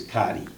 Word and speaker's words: Carty: You know, you gotta excuse me, she's from DC, so the right pronunciation is Carty. Okay?